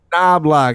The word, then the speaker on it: Knobloch: It's Knobloch. I He's know. convinced. He doesn't know how to pronounce his own name.